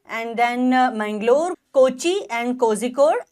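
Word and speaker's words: Kozhikode: then Mangalore Kochi and cause code जिसको some time they are pronounce as कोइ code okay and of course Thiruvananthapuram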